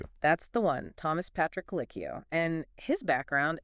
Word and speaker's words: Colicchio: And just so everyone's clear, the name Kikio, pronounced K O is L.